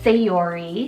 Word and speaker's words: Sayori: So I have the name Sayori, spelled S-A-Y-O-R-I, Sayori.